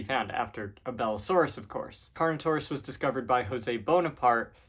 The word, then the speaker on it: Carnotaurus: All right, first one, Carnotaurus, or as I used to pronounce it, Carnotasaurus.